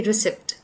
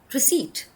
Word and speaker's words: receipt: Another word is receipt. We don't say receipt because the P again is supposed to be a silent one. So that's why we pronounce the word as receipt.